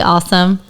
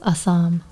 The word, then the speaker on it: Assam: I say awesome, but it's Assam.